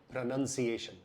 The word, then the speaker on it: pronunciation: क्योंकि प्रोनाउंस जो कि एक वर्ब है उसमें ओ एक्स्ट्रा लगता है, लेकिन जब वो नाउन बन जाता है, संज्ञा बन जाती है, तो उसमें ओ हट जाता है, इसलिए उसका उच्चारण होता है प्रोनाउंसिएशन।